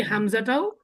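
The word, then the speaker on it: همزة: হামজা, হামজা। Good. তাহলে এটা যদি আমি ইংরেজিতে লিখি, এটা হবে না? জি হামজা হ্যাঁ, হামজা। ঠিক আছে, এটাই হবে হামজা, হামজা। তাহলে এই হামজাটাও আলিফের মতো তাড়াতাড়ি পড়তে হয়।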